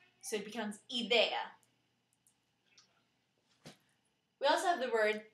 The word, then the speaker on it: idea: A of idea but in Spanish we stress the letter I so it becomes idea we also have the